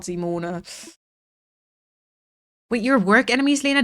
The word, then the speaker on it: Simone: The American Oh, yeah. Simone. I like Simone though. But yeah, in German it would be Zimon.